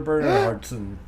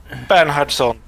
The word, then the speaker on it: Bernhardsson: We also have Ilya Moon and Bernhardson. Let's do the patient one first. Bernhardsson. You guys can never pronounce it anyway, so I don't care.